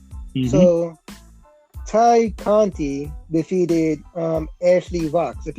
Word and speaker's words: Tay: I say Ty Conti, mm-hmm. but it's spelled Tay Conti. How do you pronounce it? Because -1 said it's pronounced Ty. How do you pronounce it? I pronounce it Ty Conti.